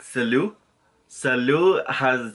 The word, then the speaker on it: salut: So most of the endings are silent, like the T's, like salut. Salut has a T, so it's SALUT, but you do not pronounce the T like salute, okay?